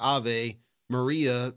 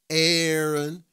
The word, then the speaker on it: Aave: I'm your host and yes I pronounced it a and I'm going to keep pronouncing it a I'm not doing this a Maria nonsense it's a because another person brought up a good point if we were talking Aon you know two A's Aon it's smooth right Aon